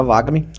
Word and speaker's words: VAGAME: Eh, não é Vagami, né? Tem a pronúncia correta. É vagam. Isso. Vagam. Isso. De vaga.